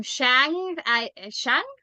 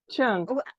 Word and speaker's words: Qiang: So, Mom Shang? Qiang.